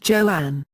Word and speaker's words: Joan: Crawford became the choice Crawford initially wanted her new first name to be pronounced Joanne she hated the name